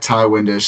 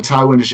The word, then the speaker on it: Ti Windisch: And then my Twitter is at Ty Windisch, spelled TIWINDISCH. And I have a Ty Windisch NBA account on Instagram and on Facebook if you're on either of those platforms as well.